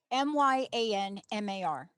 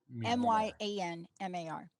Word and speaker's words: Myanmar: it I'll spell it m-y-a-n-m-a-r m-y-a-n-m-a-r some people say Myanmar some people say Myanmar